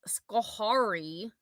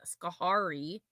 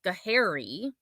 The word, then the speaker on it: Schoharie: she ate at the melting pot in Schoharie. That's not how you say it, but she was saying Schoharie, New York.